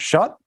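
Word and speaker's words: Shutt: How do we pronounce that? Shut? Yep, Kyle Shut.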